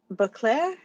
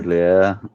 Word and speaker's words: Baudelaire: He's got that same passion, like how Leslie and I were talking, unable to believe that uh, Beauclair, I think it was, say the name wrong. Baudelaire, Baudelaire, thank you.